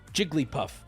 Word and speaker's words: Jigglypuff: the dictionary where it tells us jiggly and puff are two and one two plus one is three Jigglypuff Jigglypuff Jigglypuff Jigglypuff is